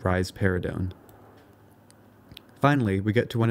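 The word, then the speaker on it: risperidone: for this is raridon you can remember that rise paradon gives rise to a pair of breaths by pronouncing it rise paradon finally we get to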